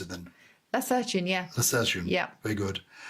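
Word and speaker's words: lacertine: How do you pronounce it then? Lacertian, yeah.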